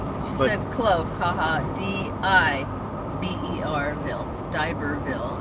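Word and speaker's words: D'Iberville: Close haha d-i-b-e-r Bill Diberville I said it right okay watch it I thought it was diaperville playing folks Kathy Rich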